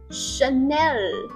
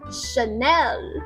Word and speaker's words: Chanel: 头往上顶，所以是 Chanel， Chanel。